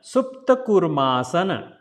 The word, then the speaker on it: Koormaasana: Then Kurma. So, double O, 2 times longer sound. So, Supta Kurma Asana. Supta Koormaasana.